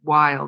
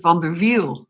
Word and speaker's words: Wiel: I I know why people why you said while because it's that's what it looks like. But it's in Dutch it's vonil. You pronounce w with a V.